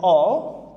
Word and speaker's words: all: dari batuara all ini bacanya all Oke pakai O all ya engak o juga ya antara o dan a all require require require